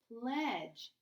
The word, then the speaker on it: pledge: so that would say pledge let's see the D is silent and this sounds this sound usually follows a short vowel sound let's see if it's